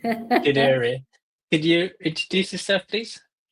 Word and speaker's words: Ghadiri: Today, we have a special guest called Ghadiri. Sorry, I couldn't pronounce his surname. No, it's okay. Ghadiri. Ghadiri.